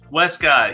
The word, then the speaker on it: Wescott: how do you say your last name Wescott Westcott yeah that's right Westcott Director of Business